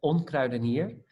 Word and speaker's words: Onkruidenier: yeah so it's a uh yeah it's uh pronounced on crowdeniere and i think we started this uh it